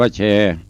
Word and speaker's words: แชร์: เช ไป เตอร์ เมตตา สระ เอ ช ช้าง ร เรือ การันต์ อ่าน ว่า แชร์ อยู่ ตั้ง มุม ดัน